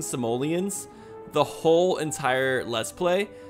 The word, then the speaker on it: Simoleons: You guys are the first to correct me when I mispronounce the word, yet nobody corrected me when I mispronounced the word Simloans? Simoleons sounds better anyways.